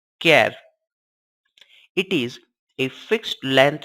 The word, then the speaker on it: char: Character, which is denoted by char and pronounced as char.